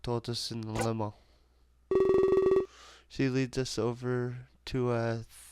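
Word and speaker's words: 四: The number 4 can be pronounced she. It's like the same as saying death.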